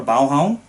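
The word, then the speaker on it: Baghaven: a location in copenhagen called baghavan or balham and as it's pronounced in danish i believe and this is where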